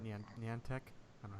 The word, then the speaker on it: Niantic: Niantic. I don't know how to say their company. Niantic.